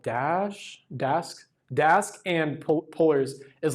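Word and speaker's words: Polars: been talking about is pullers is that how you say it pullers um yeah like polar bears um with an RS at the end um but that's like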